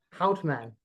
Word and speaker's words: Goudmijn: Goudmijn.